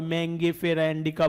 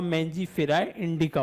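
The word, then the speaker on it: Mangifera indica: मैंजीफेरा इंडिका, कोई मैंगीफेरा इंडिका भी पढ़ सकता है। तो जो प्रोनाउंसिएशन है सभी स्टूडेंट्स का अलग अलग होता है, तो उसका जो करेक्ट आंसर होगा मैंजीफेरा इंडिका होगा।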